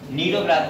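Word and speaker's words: Cnidoblast: नीडोब्लास्ट। या सी से start किया है, ये सी से सी साइलेंट रहती है।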